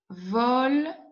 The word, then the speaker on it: volent: E, N, T, je ne prononce pas.